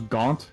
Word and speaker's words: Gant: make at least pronounce gaunt in french but it's confirmed in uh later on in the game that gams rhymes with can't so dance yeah with